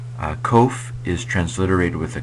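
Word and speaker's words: קוף: transliterated with a Q it's probably pronounced with uh your tongue a little bit against your pallet k k k um so it's it's not it's a not a k it's a um kind of a sound and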